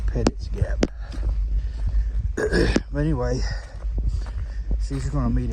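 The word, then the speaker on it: Petites Gap: meet us at uh pettit's Gap I think that's how you pronounce it pettit's Gap is spelled petites gout p-e-t-i-t-e-s but I heard a couple of locals call it pettit's Gap but anyway she's gonna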